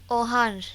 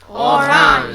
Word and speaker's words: orange: Yes, Hirali, can you pronounce this for us? Orange. Très bien. All together, orange. Orange.